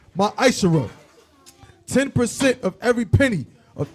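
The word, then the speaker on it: מעשר: Salaka you can find this in numbers 18 and 21 in Malachi 3:es 8-10 means 10th in Hebrew and is pronounced myisher 10% of every penny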